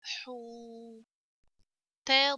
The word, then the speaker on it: حوت: ح ضمة واو حو. تا ضمتان تن. حوت. حوت.